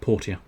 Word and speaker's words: Portia: person went you know you keep calling it porsche yeah i don't think you're making a funny joke there right i think you actually think it's called porsche don't you so um can i just tell you it's actually called port er um but turns out it's called portia my time at portia